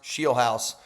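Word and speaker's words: Scheelhaase: Rams pass game coordinator Nate Sheiel House. Yes, it's pronounced Sheel House.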